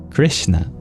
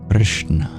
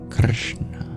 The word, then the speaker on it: Kṛṣṇa: and in this case each dot represents basically the same thing which is you curl your tongue back to pronounce it so instead of saying it Krishna try dropping the I just a pure R sound curl your tongue back Krishna Krishna get a very unique sound kind of like something